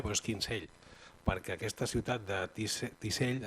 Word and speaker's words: Kinsale: Se pronuncia, és Kinsale, però és Kinsell, perquè aquesta ciutat de Tisell està a Arizona, als Estats Units.